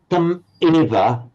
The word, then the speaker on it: tam eva: You pronounced tam eva with a slight gap. Tam eva. Remember, in pronouncing Sanskrit and Pali, it would run on. Tam eva, tam eva. So if you pronounce tam eva, which is how a German would do it, tam eva. Tam eva, you just let it flow. It would sound slightly jerky to pause and then pronounce as it were a new vowel start.